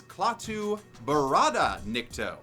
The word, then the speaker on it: Klaatu Barada Nikto: Klaatu. Nicto! But he doesn't say every single little syllable right, since the actual phrase is Klaatu Barada Nikto, as established in The Day the Earth Stood Still.